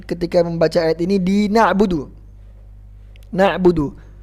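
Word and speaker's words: نَعْبُدُ: membaca ayat ini di nabudu na'budu kebanyakan memanjangkan dalilnya nah Buk iyyaka nabudu wa netbook 2 nah kenapa-kenapa kok ada Mad ada panjang di dalam nabu 2031 Kesalahan Yang bener gimana neh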